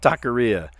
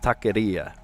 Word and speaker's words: taqueria: Taqueria, or as it should be pronounced, taqueria. Right? You got to flick the R.